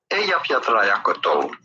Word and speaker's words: Eyjafjallajökull: pronouncing this Icelandic Okay, here we go. word? Eyjafjallajökull.